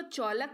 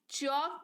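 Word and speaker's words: chalk: पर भी नहीं पढ़ेंगे इसको चालक नहीं चौक पढ़ेंगे यानी की सफेदी सी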